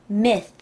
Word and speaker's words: myth: 자, th 발음은요, 항상 이렇게 발음합니다. myth. myth. th 발음은 혀와 혀 사이에다 이를 넣어가지고 살짝, 살짝 물어주시면 돼요.